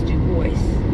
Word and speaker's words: DuBois: Oh, it is not Dubois. Say it right. That's the way Garmin says it. That's Garmin. You're an adult. My Garmin says Dubois. But it's not Dubois. It's Dubois. Dubois. Dubois.